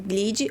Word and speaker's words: Glid: Glid é GL e E D. O D é mudo, Glid odontologia.